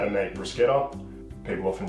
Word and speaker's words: bruschetta: Today I'm doing a cooking class, so I'm going to teach you how to make bruschetta. People often pronounce it as bruschetta.